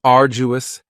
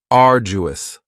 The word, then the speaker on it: arduous: next is arduous and arduous has three syllables and the stress is on the first syllable uus now you don't hear that D sound that much it's not very strong it almost sounds a little like a j arduous uous something that